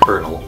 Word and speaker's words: colonel: because it's spelled like this yeah that's not pronounced Kuhlman oh that's pronounced kernel why you ask I have no idea it